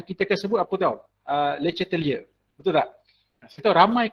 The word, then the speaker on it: Le Chatelier: Bukan Le Chatelier, the correct pronunciation should be Le Chatelier.